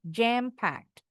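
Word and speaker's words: jam-packed: Eden-nya enggak bunyi jam packed.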